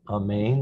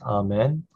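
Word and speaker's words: אמן: This is the word amen, which in English is something that's pronounced amen, but in Hebrew we say amen.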